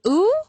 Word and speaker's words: Wu: was like, "Hey, this is Kris Ooh," and I was like, "I've been saying his name wrong this whole dang time."